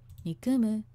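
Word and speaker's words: 憎む: You can see, so the higher pitch is on the second syllable and then it goes down, like you can hear with the voice as well. Nikumu.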